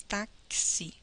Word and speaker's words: táxi: Já a palavra táxi, ela tem quatro letras e cinco fonemas. Porque quando nós pronunciamos a palavra eh táxi, a letra X, ela sai com dois fonemas, táxi.